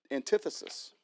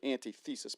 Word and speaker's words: antithesis: And now I want to share with you another theory, and that is called thesis and antithesis. I was going to say antithesis, but that is not how you pronounce it.